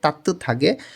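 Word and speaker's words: 따뜻하게: ফাঁদা মেঝে তাত থাগে ত ধ্বনির বাৎসিমের পরে যখন হিউত আসে তখন ত ধ্বনির বাৎসিমটা হিউমের স্থানে গিয়ে থ এর মতন উচ্চারণ হয় এখানে উচ্চারণ হবে তাত্ত থাগে তাত্ত থাগে উষ্ণভাবে হানুন করা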